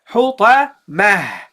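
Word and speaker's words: الحطمة: You have to ignore the ta, and you have to read it as a ha. So you get hutamah, fil hutamah, hutamah, that's it, hutamah.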